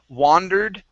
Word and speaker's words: wandered: uh in the story this is an a sound okay the other word has an o and that's uh wondered right so we have wandered wondered try the difference there